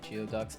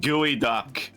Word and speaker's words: geoduck: You hate geoducks. Understandable. Also, hi there, Jason. Welcome to the stream. Alright, well, It's pronounced gooey duck. gooey duck. I thought it was geoduck, like a fucking Pokemon.